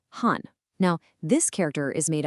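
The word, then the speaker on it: 婚: To really hammer his point home, he points to the traditional Chinese character for marriage, which is pronounced hun.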